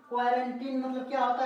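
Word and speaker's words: quarantine: अब यहाँ पे देखते हैं क्वारंटी, एक उदाहरण और देखते हैं यहाँ पे, QUARANTIN, क्या पढ़ेंगे, क्वारंटीनी, यानी कि क्वारंटीनी, इसको नहीं पढ़ना है। क्या पढ़ेंगे, क्वारंटीन, सीधा ई का उच्चारण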